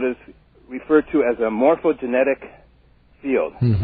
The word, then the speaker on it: morphogenetic: Well, Rupert postulates the existence of what is referred to as a morphogenetic field. Mm-hmm. Am I saying it correctly? Morphogenetic? Yeah, the morphogenetic field, exactly. Okay.